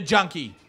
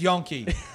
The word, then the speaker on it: Yonke: Gives it to Junkie. Oh, I said the name wrong. It's Yonke.